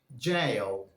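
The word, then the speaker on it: gaol: The right pronunciation for that word is jail. jail, which is the alternative spelling for this word jail.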